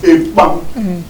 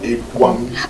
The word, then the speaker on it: Ekpang: So it is Ekpang, it is not Ekwang, it is Ekpang.